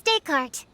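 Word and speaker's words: Descartes: His name is Daycart. He's a puppy and he's super adorable. So, the S is silent.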